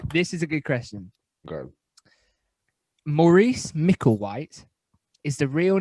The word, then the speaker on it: Maurice: a series of films is morris pronounced morris maurice a-u-r-i-c-e it's maurice yeah it's more recent yeah